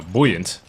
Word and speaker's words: buoyant: It's boy, buoyant. No, buoyant.